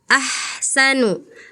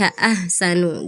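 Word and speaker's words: أحسن: Misalnya ee harusnya ahsanu ah. Dari sini tapi Kakak Anggun terdengarnya tadi seperti hasanu gitu ya.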